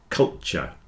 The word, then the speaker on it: culture: get cult cult but if you're speaking quickly the T joins together into a CH and you'll get culture just like in future and nature and Furniture there's a CH in there culture is cool but not culture and I think that's